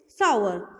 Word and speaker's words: sour: सावर। सावर नहीं, सोर नहीं, सावर। ठीक है, चलिए अब हम इनको स्पेलिंग्स और इनकी हिंदी के साथ समझ लेते हैं।